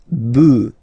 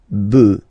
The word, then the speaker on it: bœufs: this s, but then pronunciation changes quite much, because you get des bœufs, alright, un bœuf, des bœufs, alright.